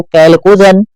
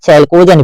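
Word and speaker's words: chalcogen: आवर्त सारणी के वर्ग 16 के तत्वों को कैलकोजन कहा जाता है, ठीक है। उच्चारण के तौर पे चला जाए तो इसको कहीं कहीं चैलकोजन भी लिख देगा, ठीक है।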